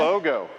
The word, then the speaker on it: Glogo: I did not know about the glow logo, or glow, how do you say that? Glogo. It's the Glogo. Yeah.